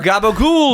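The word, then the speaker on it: capicola: And it's not pronounced that way. Oh yeah. Like real Italian. We've discussed this. Yeah, it's capicoli or whatever.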